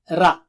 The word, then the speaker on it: رَ: And don't say it like English ra. Ra. No, not high frequency. Rat. No. Ra. Okay? And also, remember, it should be thick. Ra is thick.